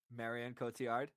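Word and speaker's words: Marion Cotillard: the the real winner I I I can't pronounce her name Marian Kotiard Marian Kotiard there it is from uh Leon Rose which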